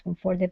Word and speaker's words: comforted: Okay, this is going to be comforted. Okay, stress at the very beginning.